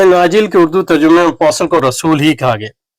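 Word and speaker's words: apostle: کا بھی فرق ہے۔ یونانی میں کہتے ہیں اپوسٹولوس، انگریزی میں کہتے ہیں اپوسل، یعنی ٹی جو ہے سائلنٹ ہے، لکھنے میں تو آتی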